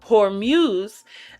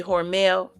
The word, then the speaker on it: Hormuz: Hormuz, it sounds like Hormel, so every time I get ready to say it, I be wanting to say Hormel, and I gotta like add the UZ before the EL come out.